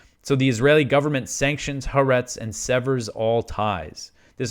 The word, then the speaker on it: Haaretz: And also I know that the proper pronunciation is it's Haaretz, but it's just so much easier for me to say Haaretz.